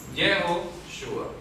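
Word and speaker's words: Yehoshua: son las mismas tres Solo que acá pronunciamos jehoshua ya jehoshua es el nombre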